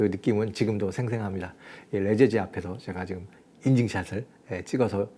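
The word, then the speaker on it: Les Eyzies: 우리가 일상적인 스펠링하고도 좀 다르잖아요.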